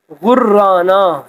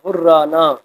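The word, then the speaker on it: غرّانہ: تو پہلا ہے آسائش، دوسرا ہے مجرم، بے سود، غرانہ، یہاں پہ شد ہے، تشدید کی علامت ہے، غرانہ، پھندا، جلاد، یہاں پر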